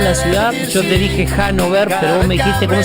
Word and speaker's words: Hannover: Yo te dije Hannover, pero vos me dijiste cómo se pronuncia. Hannover.